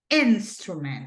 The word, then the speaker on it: instrument: It's instrument, right? That is the correct pronunciation.